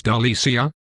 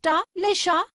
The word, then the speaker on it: Delicia: It's not like your ugly cousin Tricia. The C sounds like an S. Delicia?